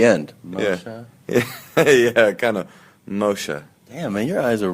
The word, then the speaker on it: Moshe: but it's it's just you just call it mosha Casher but I mean there's a subtle like like a real person would pronounce it a real person yeah like a